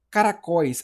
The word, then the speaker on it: caracóis: Então, sílaba tônica, que é a última oxítona. Caracóis.